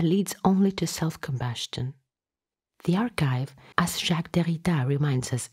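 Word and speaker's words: ἀρχή: Our search not only included the archive and the database, but we entirely depended on it. According to Agamben, the Greek arche, pronounced archi, is as much a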